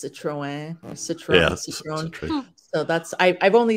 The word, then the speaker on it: Citroën: it's a citrus I never know how to pronounce this it's Citroën Citrus so that's I've only seen like kind